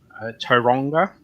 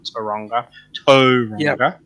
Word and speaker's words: Tauranga: Christchurch uh or Layton um uh Wellington Napier Tauranga that's how you pronounce it I've been told by kiwisote you pronounce it and I not oranga yeah uh and Auckland then coming back to